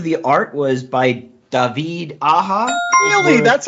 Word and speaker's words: Aja: writer most of the art was by david aha really that's how you pronounce his name i never knew i thought it was david aja like i'm i feel bad now well he's